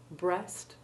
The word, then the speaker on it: breast: Important exceptions are breast, pleasant, and all words in which the EA is followed by SURE, like measure, pleasure, and treasure. All these have the short E1 sound.